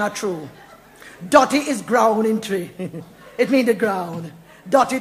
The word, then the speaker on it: Twi: do your attention Yaman it's spell twi but it pronounced tree around good language and make me tell you mrs.